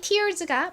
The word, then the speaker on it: tear: 이때는 E-A-R이 tear에서처럼 ear로 쓰인 것이 아니라 air이라는 발음으로 쓰였죠.